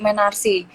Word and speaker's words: menarche: Jadi ketika perempuan mengalami menstruasi pertama kali itu disebut menarsi. Jadi pengejaannya itu MENARCHE.